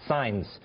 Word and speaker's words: Saenz: first of all, your name is Saenz. That's how it's pronounced, Saenz.